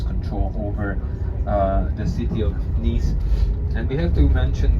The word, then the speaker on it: Nice: So this is basically the city of Nice or Nisa, depending. In French it's Nice, in Italian it's Nisa.